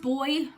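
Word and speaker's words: boi: And there is the word, I believe it's still pronounced boy, B-O-I, which I had never heard before and have Googled.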